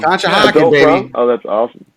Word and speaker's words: Conshohocken: Bill is actually going to a 70s prom in Conshohocken. I keep saying it wrong. Conshohocken, baby.